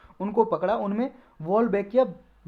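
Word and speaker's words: Wolbachia: इसमें क्या है जी, इन्होंने मॉस्किटो को ये वोल्बैकिया बोल सकते हैं, वोल्बैकिया इसकी प्रोनाउंसिएशन है, वोल्बैकिया नाम का बैक्टीरिया जी, बैक्टीरिया है ये, इसको जी मॉस्किटो के अंदर डाल दिया।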